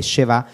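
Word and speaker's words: schwa: ha fatto è che sheva va pronunciata come una specie di è sospesa come il napoli per esempio se uno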